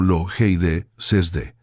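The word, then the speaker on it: λογίζεσθε: En el griego original, ese verbo es logidzeste, pronunciado lo jeide sesde, y que la mayoría de las traducciones al español vierten simplemente como pensad o piensen.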